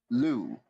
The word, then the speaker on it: Lugh: And Metal says Lugi is said Lu, Oh, Lou. Lu. So there's some sort of accent over the U, but the GH, I guess, is silent.